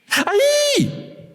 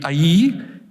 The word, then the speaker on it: Aiiieeeee!: Orientalism appeared in 1978, four years after the publication of the most important anthology of Asian-American literature, Aiiieeeee! That is spelled A-I-I-I-E-E-E-E-E exclamation point.